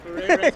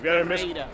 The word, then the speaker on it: Ferreyra: It's okay, Ferreyra's okay. It's the English version, but the real one is Ferreyra.